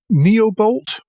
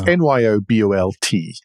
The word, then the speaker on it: Nyobolt: NYBOLT, I can never know how to pronounce it. It's NYOBOLT.